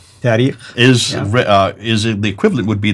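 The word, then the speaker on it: تاريخ: And then the last genre, the tarikh. How do you say it again? Tarikh.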